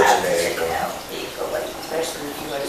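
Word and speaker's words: Jhené Aiko: I like Janae Echo. Especially if you go to sleep high. And I'll be irritated when people mispronounce her name because it ain't that damn. They're like Janae Aiko, bitch. Janae echo.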